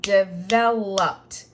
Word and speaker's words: developed: So once I put the ED, there is no extra syllable. It's still 3. Developed. But it's going to sound like a T on the end.